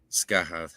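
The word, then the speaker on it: Scáthach: even you even pronounce skah the right way for folks listening what you want to visualize is scathach that's how you'll see it written as scathach but T's uh and H's hes serve an interesting role in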